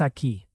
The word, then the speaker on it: aquí: Trabajas aquí. Very good. Aquí means here. Notice the accent mark. It helps with pronunciation. Aquí.